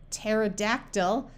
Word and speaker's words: pterodactyl: p n or PT the p is silent like in the word Psalm pneumatic pterodactyl psyche or pneumonia P and H together